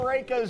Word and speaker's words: Rehka: used to associate it with raking, the art of raking.